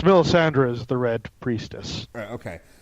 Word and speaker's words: Melisandre: the right woman okay I thought miss Andi yeah it sounds close yeah it's Mill Sandra is the red priestess